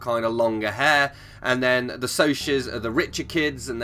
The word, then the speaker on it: Socs: Although it's spelled Socs, S-O-C-S. But I read in here somewhere it's pronounced Socs.